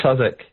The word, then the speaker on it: Southwark: at Southwark, it's pronounced Southwark Crown Court. It's spelt Southwark for anyone who isn't familiar with the English way of pronouncing things. It's at Southwark Crown Court in London.